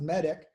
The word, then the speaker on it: MEDDIC: you get the idea some people have actually added another c so it's still pronounced medic um but instead of